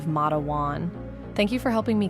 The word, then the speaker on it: Matewan: I had initially mispronounced it as Mwan instead of Mawan.